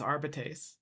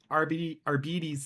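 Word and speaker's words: Arbites: I do have to say the way that they pronounce our bees in uh Rogue Trader really really really bugs me having taken Latin like it's arbitr arbetes sounds like diabetes kind of bugs me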